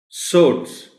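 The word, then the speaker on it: swords: सोर्ड्स, सोर्ड्स बस सुनना काफी है, इसमें कोई ऐसी खास बात नहीं. W अलबत्ता इसमें साइलेंट है.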